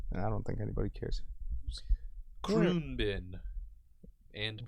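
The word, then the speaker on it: Khruangbin: Kroonbin. And pronunciation.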